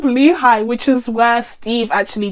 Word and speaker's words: Lehigh: them to camp lehigh i believe it's pronounced all this time i thought it was camp lee but maybe i just wasn't reading it properly it's camp lehigh which is where steve